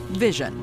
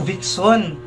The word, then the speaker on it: Vision: number 10 the beast vision I'm the beast I'm the beast yeah vision pala yung pag-pronounce niyan palagi ko na nasa-scroll sa TikTok 'tong grupo na 'to akala ko Vixon ko Vision pala ang galing pala ang